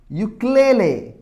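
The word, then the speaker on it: ukulele: hamburger അല്ലേ hamburger A യുക്ലേലെ ഒരു musical instrument ആണ് വൈ ഓ വൈ ഡബിൾ ഓ എന്നാണ് ഉച്ചാരണം വരുന്നത് യു ആണ് സ്റ്റാർട്ട് ചെയ്തിട്ടുണ്ടെങ്കിലും യു വെച്ചിട്ടാണ് സ്റ്റാർട്ട് ചെയ്തിട്ടുണ്ടെങ്കിലും അവിടെ ഇതിനെ പ്രൊനൗൺസ് ചെയ്യുന്നത് വൈ ഡബിൾ ഓ യുക്ലേലെ അപ്പൊ നോക്കാം യുക്ലേലെ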